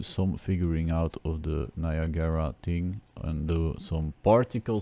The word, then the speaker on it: Niagara: there because I am figuring out Niagara or Niagara as I have heard it pronounced but that it isn't written like um I've done these books